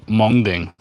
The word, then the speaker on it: Mengding: sorry from monging Mountain it's m n g it's pronounced monging really nice has the